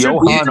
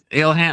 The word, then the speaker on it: Ilhan: Who's Johan Omar? How are you supposed to say Ilhan? Ilhan. I don't like saying that. I use the Ben Shapiro pronunciation, okay, which is Johan. Alien. Ilhan Omar. Ilhan.